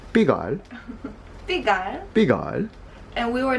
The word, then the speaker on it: Pigalle: I thought it was Pigalle, and then I tried to explain to that bakery owner, yeah, we're near Pigalle, and she's like, you mean Pigalle?